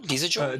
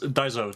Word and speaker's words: Daizo: How do you say your name? Dizajo? Just Daizo.